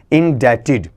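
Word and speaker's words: indebted: इन जुड़कर और एडी जुड़कर क्या बन गया इन डेटेड इसका उच्चारण सुनिए बिल्कुल अलग थलग उच्चारण आपका आएगा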